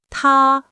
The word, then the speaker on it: 他: He and she sound exactly the same in Chinese. They are both pronounced ta.